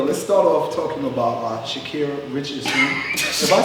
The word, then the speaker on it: Sha'Carri: So yo, let's start off talking about Sha'Carri Richardson.